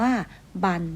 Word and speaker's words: บรร: คะ คำ ที่ ใช้ บัน อ่าและ บรร ร หัน จะ ออก เสียง ว่า บัน เหมือน กัน เดี๋ยว เรา ไป ดู